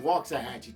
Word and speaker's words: Waxahachie: Anyway, originalmente from San Antonio, but grew up in the little town of Waxahachie, Texas. Real pronunciation is Waxahachie, Texas.